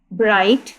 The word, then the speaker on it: bright: जैसे ब्राइट, BRIGHT, ब्राइट। यहाँ पर हमारे पास जी जो है जी हमारे पास यहाँ पर क्या है? साइलेंट लेटर है।